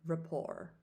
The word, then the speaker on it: rapport: So that is R-A-P-P-O-R-T, but that T is silent, okay? So go ahead and repeat that for me, rapport.